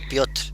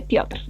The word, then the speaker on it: Piotr: Piotr, ¿no? Piotr. Sin O, sino Piotr. Muy rápidamente, Piotr.